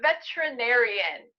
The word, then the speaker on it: veterinarian: I'm a veterinarian. Veterinarian. But okay. Did you hear the pronunciation? Veterinarian. Veterinarian. Veterinarian. Veterinarian. So this vowel is not pronounced. You don't say veterinarian.